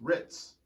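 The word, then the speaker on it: Hrizo: like kind of like says my name is pronounced like ritz cracker so it's h-r-i-z-o ritz but it has an h in front of it so it's not hertz it's ritz ritz this is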